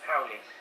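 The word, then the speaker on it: haole: Howley.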